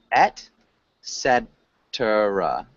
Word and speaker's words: et cetera: So it's et cetera, etc. Etc. Yeah, etc. It's etc. Yeah, and so this is Latin.